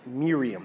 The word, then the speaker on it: Miriam: like Mary are we like Miriam that's how you would say her name in Hebrew do we say yes